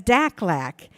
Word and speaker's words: DACLAC: Committee, affectionately known as DACLAC. Rhymes with AFLAC, but we're not insurance, okay?